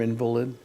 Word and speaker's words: invalid: Because Buddy's wife said, "Face it, you're an invalid." Really? And I went, you know what I hate about the term invalid? What? Actually, it should be pronounced invalid.